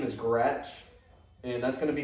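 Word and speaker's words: Groetsch: That's spelled I-A-N. Mm-hmm. My last name is Gretch, and that's going to be spelled G-R-O-E-T-S-C-H.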